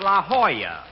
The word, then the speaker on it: La Jolla: I'm over here at the La Jolla Auto Court. Rochester, I found out that's pronounced La Jolla. It turned out to be a Spanish word.